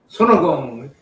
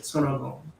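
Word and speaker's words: 손오공: Sonogong. That's how Korean pronounce it. Sonogong. That's how the Koreans pronounce him? Yeah. Oh, nice. That's cool. Sonogong.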